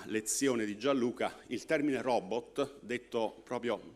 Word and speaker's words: robot: di gianluca il termine robot detto proprio diciamo pronunciato robot e non come a volte si ascolta nei media robot alla francese deriva dallo slavo che